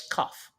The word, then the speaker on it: Knopf: No, the N is silent. The N is silent. The N is silent and the P is silent? Yeah, it's Koff.